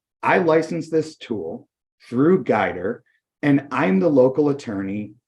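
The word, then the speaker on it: Guidr: have come up with is this tool called guider it's spelled g-u-i-d-r and it's a great tool it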